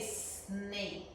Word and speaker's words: snake: So this is why we say snake. But we do not say key. It's silent, snake. Snake. We don't say E or A. We say snake. It's silent. The E right there is silent.